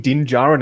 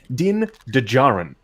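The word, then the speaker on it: Din Djarin: kept pronouncing in they they kept pronouncing dinjaran as din dajjaran and i was just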